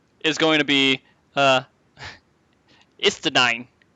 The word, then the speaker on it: Estinien: going to be uh Estinien. I'm just going to say it like this German cuz I see nine every time I look at it. Estinien.